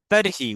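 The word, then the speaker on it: तर्हि: ইয়দি পিপাসা, ইয়দি পিপাসা ইয়স্তি তর্হি, তর্হি উচ্চারণটা হবে তর্হি, তর্হি জলম পিবতু।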